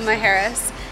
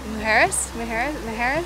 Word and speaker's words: Mujeres: We are here and raring to go for our sailing trip and snorkeling to Isla Majuras, because apparently I've been saying it wrong this whole time. Majuras, it's Mujeres.